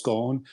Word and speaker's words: Ghosn: I think it's pronounced Ghosn, if I'm not mistaken, silent S.